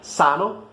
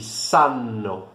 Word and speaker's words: sanno: Um outro exemplo, por exemplo, sano, sano, que significa são, saudável, e sano, com dois N's, que significa sabem. É a conjugação da terceira pessoa do plural do verbo saber no presente. Então, sano e sanno, certo? Então, são palavras muito semelhantes, cuja única diferença é a duração dessa consoante, certo?